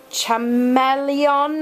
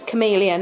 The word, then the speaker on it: Chameleon: it and they're like is it chamon or something I'm like no it's chameleon as in the animal that changes well it's a lizard that changes color a chameleon um and some